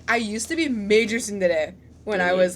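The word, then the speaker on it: tsundere: That's how Koreans say it, but like it's Chindere in Korean and Sundere in Japanese.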